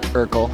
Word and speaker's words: Urquell: So it's pronounced like Urquell, like Steve Urquell.